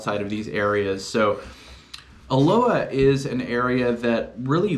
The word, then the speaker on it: Aloha: let's talk about Aloha so yes it is pronounced Aloha not Aloha although it is spelled aloha a-l-o-h-a aloha is